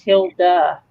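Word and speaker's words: Hilde: Yeah, she's just Hildy. That's Hildy. Hildy, that's Roy. Okay. Well, it's spelled with an E because my parents named me in Germany. It's Hilda.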